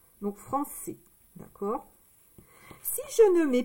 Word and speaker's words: français: Donc français. D'accord? Si je ne mets pas ici, ici la cédille, si je ne mets pas la cédille, ça fait franqué. C'est français. Franqué, français. Franqué, non. C'est français.